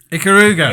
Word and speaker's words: Ikaruga: Ikaruga. Yes. Sorry. Yeah, I there we completely go. forgot. Yeah, Sorry. yeah. The spiritual successors of Smouldering Switchblade. Switchblade. That's the one. Yes. So, what have you played Ikaruga on?